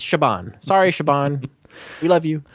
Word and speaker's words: Siobhan: And And I want to apologize to any of our listeners that had to hear our pronunciation. What did we call her? Sabin Fallon.